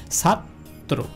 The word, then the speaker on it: ছাত্র: যেমন দেখেন ছাত্র, এখানেও কিন্তু তয়ের সাথে রফালা রয়েছে, সেক্ষেত্রে উচ্চারণটা ছাত্র, অর্থাৎ দ্বিতীয় উচ্চারণ।